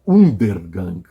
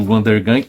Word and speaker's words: Undergang: Eu acho que é Undergang.